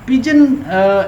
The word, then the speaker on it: pidgin: सो पिजन, ये D silent है।